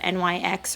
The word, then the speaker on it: NYX: that concealer with the Nyx or NYX however you like to pronounce it the HD um setting